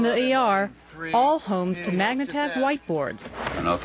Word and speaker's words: Magnatag: Is that how you say it? Magnatag?